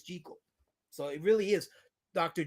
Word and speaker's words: Jekyll: As KSS said earlier, he's Scottish, so he pronounced it with a Scottish accent, and that's how it's pronounced. But it's not spelled that way in our modern English vernacular, so it's organically and immediately pronounced, or as it appears to be pronounced, as Jekyll. But make no bones about it, we're pronouncing it wrong. It really is Jekyll.